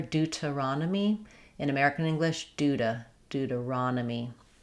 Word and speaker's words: Deuteronomy: In Deuteronomy, we stress on the raw syllable. Letters O say the A sound here. Dudronomy. You notice how I have a D for the letter T. We tend to flap that in American English. Other um English dialects would use a T there.